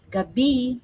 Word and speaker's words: gabi: How you say it? Gabi. Gabi. Yeah, magandang gabi means, but gabi is a type of root vegetable.